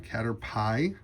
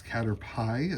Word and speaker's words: Caterpie: Caterpie. I always said Caterp, but I guess it's Caterpie as I learn pronunciations for Pokemon.